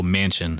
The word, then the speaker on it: Manchin: And I said his name wrong. It's actually Joe Manchin, so I apologize for that. Manchin, Manchin.